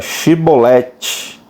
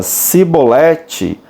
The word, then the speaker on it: Shibolete: Se respondesse que não, os homens de Gileade lhe diziam: então diga Shibolete. Se ele dizia Sibolete, não podendo pronunciar corretamente a palavra, eles o agarravam e matavam nos vales do Jordão.